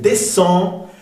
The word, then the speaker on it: descend: Al final no se pronuncia la C, descend vers, no se pronuncia la S, le village.